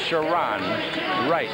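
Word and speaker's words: Sharone Wright: in the middle here is shiron Wright is pronounced shiron Wright Clemson 611 262 up front a kid from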